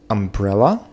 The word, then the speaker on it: umbrella: Какой слог под ударением? Umbrella, umbrella, umbrella.